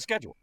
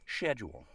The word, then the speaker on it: schedule: But there are some over there that say schedule. Yep. In American English, the word is pronounced schedule. No one says that over here. We all say schedule.